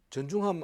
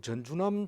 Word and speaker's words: 전중함: 그래서 사람 찾기도 좋고 발음 발음하기도 좋고 확실하게 발음하면 좋 제 이름을 똑바로 발음하는 사람이 별로 없어요. 아이 심지어는 대학원 후배도 전중함 안 그러고 전준함 선생님이라 이렇게 불러요. 뭐 또 어떤 사람은 선생이라고 부르기도 하고 뭐 별 그 제대로 못 부어요.